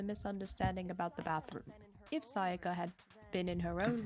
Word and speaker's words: Sayaka: Saihua. It's pronounced Sayaka, thank you.